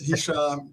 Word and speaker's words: Hicham: Yeah, it's Hicham, and there's a story to, and there's a story why we have Hurricane H here.